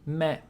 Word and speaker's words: み: aghh So three strokes left to right left to right again top to bottom with a little loop み is pronounced like the English word ‘me’ In other words, it sounds like ‘me’ in ‘meat’ Looks like lucky number 21 Who just hit the blackjack?